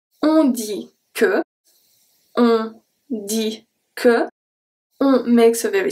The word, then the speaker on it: dit: On dit que. On makes a very specific sound. Dit. Dit. So I don't say dit. So the T is silent.